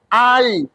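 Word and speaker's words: eye: ey kalau dituliskan ey tulisannya tapi membacanya bukan ey ey dibaca ai loh berarti beda kan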